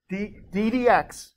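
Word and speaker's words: d/dx: ddx, right?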